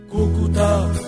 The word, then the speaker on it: Cúcuta: historia Rafael Eduardo Ángel esta ciudad antes tenía el acento en la última vocal y sonaba más o menos así no era cucuta con el primer acento sino el último era cucut y hay versiones que